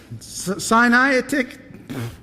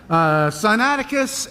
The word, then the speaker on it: Sinaiticus: These two manuscripts are what are known as the Codex Sinaitic. I worked all week to learn how to say this, and I messed it up. Sinaiticus and Codex Vaticanus.